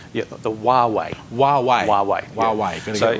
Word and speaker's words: Huawei: you said it's called The W yeah the wuwei wuwei WWE wuwei going right it's Chinese company and it's spelled Hua Wei M those are what's so